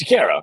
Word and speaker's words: DeCaro: Care. Like Caro. Okay, right?